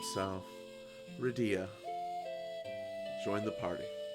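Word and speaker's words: Rydia: I heard it's pronounced some people say Ria or Ria ridea sounds proper because Dia is in the name and I just think r y is separate with Dia at the end so Reda it's pronounced Dia in other game so redia join the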